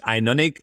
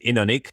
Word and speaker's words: Innonik: Innonik or Innonik? Yeah, in English people usually pronounce it Inonic. We pronounce it Inonic, but I guess Okay. both works.